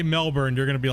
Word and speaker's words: Melbourne: Melbourne, Australia for you. I know I have to say it like that, right? That's correct, right? If I say Melbourne, you're gonna be like cringe, and it's Melbourne, right?